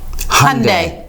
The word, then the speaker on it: Hyundai: got world cars Kia Hyundai well I learned how to say this properly ready that's not correct how do you say it right with Monday Hyundai ok and then I